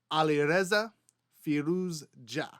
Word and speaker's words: Alireza Firouzja: Alireza Firouzja. Alireza Firouzja.